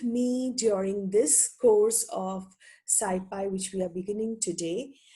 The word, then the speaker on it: SciPy: them so let us begin our class on skyfi and and it is actually uh pronounced as scipi many of you can even say Ci or